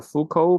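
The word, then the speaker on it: Foucault: fal pendulum this is is a a French name a French name I check the pronunciation in English and it's called f you don't need to pronounce this t or L there this just f f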